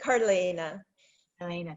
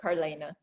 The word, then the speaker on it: Carlaina: i apologize right yeah my name is carleana elena so you want to put those two um vowels together carlaina yeah thank you so